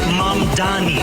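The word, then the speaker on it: Mamdani: And furthermore, the name is Mom Donnie. M A M D A N I. You should learn how to say it.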